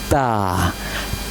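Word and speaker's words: ت: Pronounce with bringing your tongue behind the upper teeth like Ta Ta Okay?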